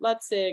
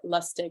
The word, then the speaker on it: Lustig: that talk about it Robert lutzig and uh or lustig I always say it wrong and that Johnson there's